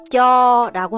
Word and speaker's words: Cho: 그냥 한번 읽어 볼게요 남부에서는 그냥 저라고 하고 북부에서는 저 저라고 발음을 하죠 우리나라의 줘 그거 좀 주세요 줘랑 비슷해서 이렇게 생각을 하시면 되는데이 쩌란